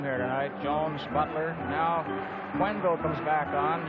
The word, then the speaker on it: Quenneville: You may notice we pronounce his name Quenneville. He told us a couple of weeks ago that's the way he preferred it. We've been calling him Kenville most of the season.